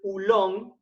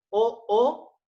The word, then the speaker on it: oolong: Tenemos el oolong, que se escribe con doble O, O-O-L-O-N-G, oolong, con dos O que en inglés se pronuncian las dos O como si fueran una U, ¿sí?